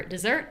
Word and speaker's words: dessert: And then for dessert, again, we're not changing anything really with individual sounds. We're only changing the stress.